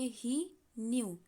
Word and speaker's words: knew: पहले बाएं तरफ और दाएं तरफ वाले न्यू में सिर्फ एक के का अंतर है। ठीक है, दाहिने वाले में हमने आगे एक के लगा दिया है।